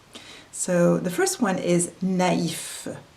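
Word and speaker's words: naïf: out one dominates so the purpose is to make sure that we pronounce both vowels distinctly I have five examples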